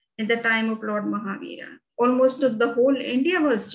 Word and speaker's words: Mahavir: And I did hear you mention, how do you pronounce it? Is it Mahavira?